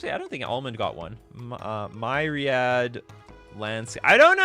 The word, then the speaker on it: Myriad: Okay, it's pronounced Myriad. Oh, I was doing it right in the first place. It doesn't sound right. Myriad?